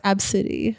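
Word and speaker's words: Abcde: a little girl was spelled a b c d d and pronounce absidy absidy yeah nah that's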